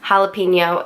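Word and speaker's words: jalapeño: three years old so the J in Spanish is pronounced like an H you know Jose hey Zeus jalapeno etc I'm in the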